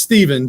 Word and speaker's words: Stephen: It's Stephen, just like it would be as if Steven, Stephen is the same. So it's Stephen.